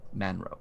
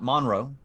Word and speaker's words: Manrow: establishment please follow me i'll introduce you to uh mr and mrs monroe manrow it's it's spelled m-a-n-r-o-w um not monroe manrow um he leads you